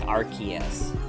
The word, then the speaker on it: Arceus: They did it like that in the dub, so it wouldn't sound like Arce. Oh, okay. So they say it like Arceus.